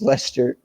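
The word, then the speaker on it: Leicester: manchester united may start all it's pronounced lester okay manchester united both teams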